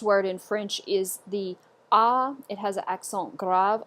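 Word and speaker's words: à: this word is pronounced ah ah go ahead ah good so it's pronounced just like the letter A in French ah but it just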